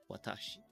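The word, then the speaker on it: 私: Are you telling me that kanji there, it's pronounced watashi?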